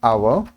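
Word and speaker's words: hour: पर जो हमारा है आवर इज काउंटेबल क्योंकि हम लोग इसको गिन सकते हैं countable starts with a silent H यहां पे एच साइलेंट है एंड अ वावेल साउंड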